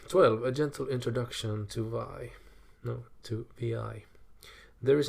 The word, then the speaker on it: vi: to to VI or Vim vi v which is a text editor pronounced VI oh never heard that